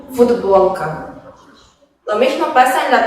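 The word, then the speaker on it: футболка: Esto pasa en el caso de la palabra futbolka, que se escribe con la consonante sorda t, que se pronuncia en el habla como d, ya que está seguida por una consonante sonora ba, futbolka.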